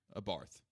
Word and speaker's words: Abarth: both love the 500 Abarth or a Bart is how they say it and don't age that's just Abarth yeah kind of much